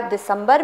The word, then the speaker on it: दिसंबर: उसी प्रकार दिसंबर में भी हो रहा है कि दिसंबर यानी कि आधा म ना लिख करके क्या कर दिया हम लोग ने, बिंदु लगा दिया।